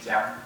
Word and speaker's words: Chiang: How do you say your Chinese name? Chiang. Chiang. Okay. Like the river.